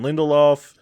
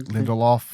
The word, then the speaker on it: Lindelof: series that came to HBO, written by Damon Lindelof.